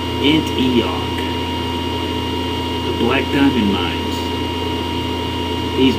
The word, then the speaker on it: Antioch: And our first stop on our highway of doom is, I think it's pronounced Antioch, the Black Diamond Mines.